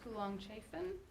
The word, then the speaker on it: Coolong-Chaffin: So we're very fortunate in our pre-spring break forum presentation to have Melissa Coolong-Chaffin. Did I pronounce that right?